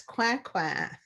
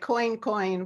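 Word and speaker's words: Coincoin: But the woman in this story represents an African woman whose name was Marie Therese Coin, which looks like coin, but in French it's Coin.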